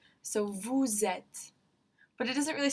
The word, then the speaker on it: vous êtes: So we know that S at the end is going to be pronounced when there's that vowel to start the next word. So vous êtes.